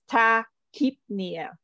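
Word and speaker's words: tachypnea: not really the R so it's ta keepnia yep and then a lot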